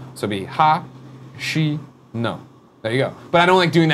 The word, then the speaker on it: Katsura Hashino: Well, I know, but Japanese is good when you break it down. Per Schneider once said they use short syllables, so do it that way and it works. So it'd be ha, she, no.